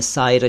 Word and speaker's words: शायर: Poet यानी कवि को शायर कहते हैं। आप जानते हैं। लेकिन अगर आप इसको शायर कह देंगे तो साइर का अर्थ कुछ और होता है।